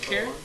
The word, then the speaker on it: Heron: So, Haran, I guess is how you say that? Heron? Heron? Heron?